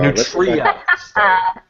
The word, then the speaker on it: Nutria: So Nutria. Yeah. I was pronouncing it wrong.